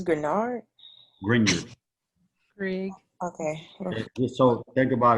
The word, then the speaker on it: Grignard: yeah just the g the middle g is silent so it's like grin europe the g oh oh it's grenard grignard greg okay so think